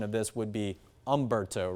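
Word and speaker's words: Humberto: There's an H in front of it, but the H is kind of silent.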